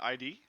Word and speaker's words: id: how you say it here's how you say it uh isn't it id correct right brandon yeah yeah i always call it id okay thank you and